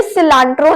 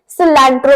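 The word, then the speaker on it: cilantro: हम कहते हैं सिलेंट्रो इसे भी सिलेंट्रो नहीं बोलना भले यहां पर ए लगा हुआ है इसे सिलेंट्रो बोलते हैं सिलेंट्रो सो ए को ए बोलना है आ नहीं बोलना ए प्रोनाउंस करना है वैसे मुझे नहीं पता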